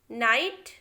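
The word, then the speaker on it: knight: Silent K देखिए कहाँ K silent होता है, the letter K is always silent when it प्रेसीड्स the letter N इन a word. देखिए जब भी K जो है N के पहले आता है उस जगह पे हमें K को बोलना ही नहीं है। एग्जाम्पल देखिए no, knock, knife, नाइट, knowledge, हमने सिर्फ N को प्रोनाउंस किया है, K को कहीं भी नहीं किया है।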